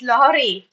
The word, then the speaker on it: lorry: It's lori. Okay. Fine. Yes. Rashan, please try. Red lolli. Yellow rally. Redley. Yellow rally. Redee red. Yellow rley. Redley. Yellow rley. It's red. It's not rolly. It's Lori.